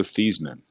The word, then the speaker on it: Theismann: I didn't know that, but there was a quarterback back in the day named Joe Theismann, and he went to Notre Dame, and they decided, hey, we're going to start a Heisman campaign for him, so we're going to change the pronunciation to Joe Theismann, and it was Theismann for Heisman, and the rest is history.